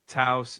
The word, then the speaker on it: Taos: Taos, New Mexico.